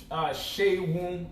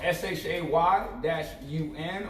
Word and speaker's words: Seun: It's Shay Woon. So Shay Woon. So SHAY-UN, or you can say SHAY-WOOUN.